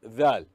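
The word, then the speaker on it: ذ: Dhal should be pronounced as the tip of the tongue should come out of the mouth between the teeth. Then the sound should be pronounced Dhal.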